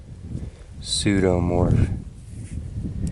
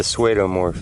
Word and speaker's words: pseudomorph: by a big old pseudomorph i kind of like the swado morph though you know even if i was pronouncing it wrong made me think of